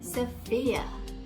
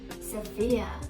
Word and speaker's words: Sophia: S-O-P-H-I-A. How do you read this word? Sophia? Almost right. Then that should be Sophia. Sophia. The stress is on the second syllable.